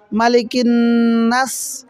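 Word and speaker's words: مَلِكِ النَّاسِ: আউজুবি রাব্বি নাস মালিকিন্নাস এখানে মা কোন টান হবে না মিমের উপরে এক জবর হরকত এগুলো হরকত হরকতের উচ্চারণ তাড়াতাড়ি পড়তে হয় মালিকিন এখন যদি কেউ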